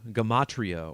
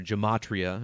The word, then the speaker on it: gematria: using the language of letters and numbers called gematria or gematria as it's often pronounced this language provides clues into the reality